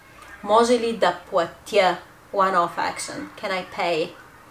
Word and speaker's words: платя: Bulgarian, not being a completely phonetic language, actually we write платя, but we say платя.